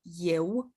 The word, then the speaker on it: eu: So for example, for eu, we have only two letters, E and U, but when we pronounce them, we can hear a Y sound right at the beginning. I've marked it here, as you can see, the Y sound, but in the written